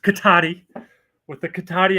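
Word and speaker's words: Cotati: katata what K Kata first of all it's pronounced katti with the katti accent um it's a town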